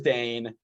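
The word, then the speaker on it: Dayne: sorry before you go i was saying dwayne for the longest time it is dane pronunciation we've talked about it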